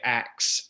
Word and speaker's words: ask: And what you're really getting at is people who say ax instead of ask. I asked him a question. And that was, now both pronunciations have been around since Old English, but it does appear that in the late Old English, early modern English period, ax was the more common of the two pronunciations.